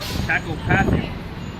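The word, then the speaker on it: κακοπάθεια: What's how you pronounce that? Kakopathia.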